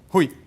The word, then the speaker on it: Rui: Rui. Assim, pronunciado assim mesmo?